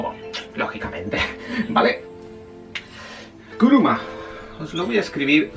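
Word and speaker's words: くるま: Os voy a escribir la palabra coche, que en japonés se dice kuruma.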